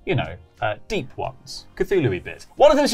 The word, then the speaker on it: Cthulhu: As we know from Dom Allen, the correct pronunciation of Cthulhu is Cthulhu.